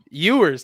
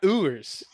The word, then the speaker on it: Ewers: i pronounce quinoa's name so ewers not ubers it's you know i'm from